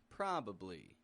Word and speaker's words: probably: raising in the tone it's getting a proper true vowel sound but it's not getting a strong one it's kind of medium probably now pronouncing a full